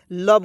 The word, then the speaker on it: love: यदि आपसे कोई सवाल पूछता है, प्रश्न करता है, तो आप हमेशा याद रखिएगा LOVE को लव पढ़ते हैं, और इसमें ओ और ई को हमेशा साइलेंट रख लेते हैं, ठीक है।